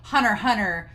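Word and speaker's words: Hunter x Hunter: point to make that you say hunter hunter so you say spy family and x is silent and i was like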